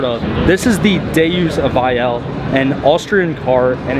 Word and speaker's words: Vayanne: And Vayanne, I believe, is actually the original like pronunciation for Vienna, so it's a very like classy vehicle as well.